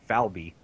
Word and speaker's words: Falba: I mean, the obvious is Falba. Do you know how? Okay, here's how the locals pronounce it. Falby.